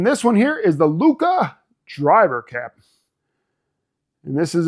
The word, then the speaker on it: Lucca: I'm English, but I did do a little research and realize it's called Cappello and Lucca. You got to pronounce it because there's two C's.